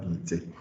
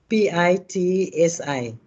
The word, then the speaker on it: Pitsi: Pite.